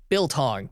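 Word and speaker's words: biltong: written out it's spelled billong b i l t o n g here you pronounce it it sounds like bull tongue to me doesn't help like when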